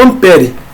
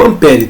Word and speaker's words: ampere: elétrica vai ser o Ampere Beleza então unidade de corrente elétrica vai ser o chamado amper o Ampere tá tanto faz aí a sua pronúncia o Ampere ele vai